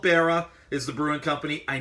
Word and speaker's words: Beara: of person but I didn't know if he pronounced it B era or Berra its Berra so Berra cake it's actually got